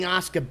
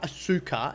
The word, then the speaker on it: Asuka: Her name is not Asuka, it's Asuka, right?